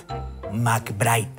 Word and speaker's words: McBride: McBride, que es como se pronuncia, me suena más a Cerro de Pasco Copper Corporation que a Chimpún Callao.